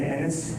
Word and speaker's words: Ennis: My name is Ennis, E-N-N-I-S. Thank you. It rhymes with tennis, not other.